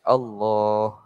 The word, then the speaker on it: Allah: jadi sebut Allah tu walaupun ditulis alif lam l sebutnya tetap panjang sini Allah sebut Gitu d macam